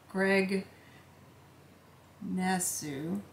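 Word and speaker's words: Greg Naçu: It Was Written entirely by gentleman named Greg nasu and which is the way you pronounce it and um I managed to pass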